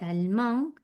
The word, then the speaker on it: allemand: Antes para alemán, cet étudiant est allemand, me quedaba en el fonema de la A nasal, allemand, porque la D final no se pronuncia.